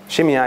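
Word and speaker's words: Shimei: by the name of shimyai shimyai is how that name is usually pronounced in english he's the man who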